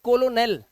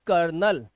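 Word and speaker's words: colonel: एल ओ एनई एल देखने में लगता है कोलोनल बट इट्स नॉट कोलोनल we pronounce this word as कर्नल इसे कर्नल पढ़ते हैं यहां पर ई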